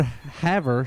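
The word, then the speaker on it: Havre: yeah it's just and the word haver spelled like f er sorry h-a-v-r-e we can say perfectly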